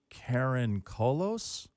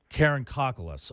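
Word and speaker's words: Karakoncolos: I want to start with, I think it's pronounced Karen Kolos? Karen Kokolos. Okay, Yeah. that's it.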